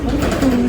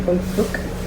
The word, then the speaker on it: Hung Fuk: It should be Hung Fuk. It does have the K sound. See that? It's Hung Fuk Street. They just pronounce it Hung Fu Street.